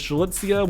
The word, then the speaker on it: Strelitzia: you know, the the real official way to pronounce her name. It is Strelitzia. We don't have to, you know, butcher her name anymore. It's him, Strelitzia, and the other character, the other male character